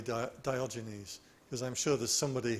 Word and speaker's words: Diogenes: Now I asked Grok, how do you pronounce Diogenes? And apparently the Anglification of the word is Diogenes, but the original Greek was Diogenes, because the G is a G, not a J in the original Greek.